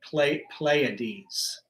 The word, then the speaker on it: Pleiades: Pleiades. You know what I'm talking about. So the Pleiades are the two planets, classical planets that they give energy to, and I say they because the Pleiades are actually 7 stars.